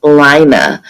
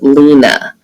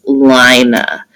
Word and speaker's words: Lina: here and they say i pronounce it lina but the movie will pronounce it lena so um i'm gonna pronounce it like the author wanted us to which is lina and i'm going to